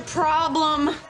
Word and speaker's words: problem: The letter O makes the ah as in father vowel here, and the E is a schwa, problem, lum.